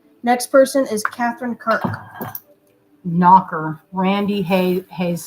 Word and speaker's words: nacre: Knocker. Randy Hayes says knacker. I think it's spelled Nacre, like acre. All right, Nacre. I say it like that because it looks like acre.